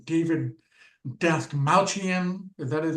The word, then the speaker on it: Dastmalchian: pronounce the guy's name. David Dastmalchian.